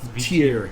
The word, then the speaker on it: Hvitr: Let's drop the H and just be like tier.